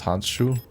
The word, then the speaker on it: Handschuh: words together, like how glove is hand shoe, which is also basically pronounced that way too. It's Handschuh.